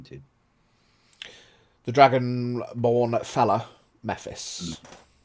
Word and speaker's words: Mephis: the dragon born fella mephis I think that's how I pronounced it last time if not that's what we're going with m e p h